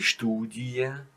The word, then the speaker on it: Studie: all of them, but many of them are pronounced simply separated. And those words are, for example, die Familie, die Lilie, die Studie, die Bestie. So you don't make a long E, you pronounce it separated.